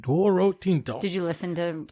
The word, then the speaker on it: Douro: Thank Well, I don't know if I'm totally saying it right, but it's d o u r o, but it's dooo. That's how you say it. Doro tinto.